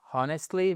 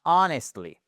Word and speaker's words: honestly: Puisque celui-ci, bah là aussi, typiquement, faites attention, c'est un des rares mots qui commence par un H en anglais et qui ne voit pas ce Honcé. Donc c'est pas honestly, mais c'est bien honestly. Et toujours une accentuation. Oui, là elle se fait où ? se fait sur la première voyelle puisque celle-ci, cette première lettre ne s'entend pas.